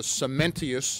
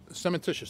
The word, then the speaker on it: cementitious: Mike Abrahams also said that there was a cementitious, and I'm not pronouncing it right, cementitious, thank you, Jano, layer that could be put on top of the FRP.